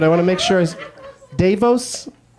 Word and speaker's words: DeVos: Davos? Davos? Davos? Davos? Betsy DeVos is a wicked shithead.